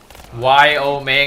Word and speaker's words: Yao Ming: Yao Ming. Yo Ming is how you say it.